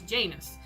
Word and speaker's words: Janus: of duality that it is based on this Janus now the reason why they're not saying that is obviously the pronunciation would be a very remiss directed pronunciation